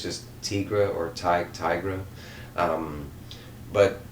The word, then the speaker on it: Tigra: part of the and it's tigra not tigress it's just tigra or tight tigra um